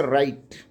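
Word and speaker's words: write: जाता है अब एग्जांपल को समझते हैं जैसे राइट ब्लू का उच्चारण नहीं करते हैं रंग हो गया रेस्ट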